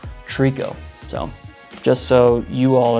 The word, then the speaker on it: tricot: talking about our tricot stitch, and it's actually pronounced tricot. So just so you all are aware, and you can learn from my mistake. So what we'll do for the tricot stitch is we're gonna have your pattern selector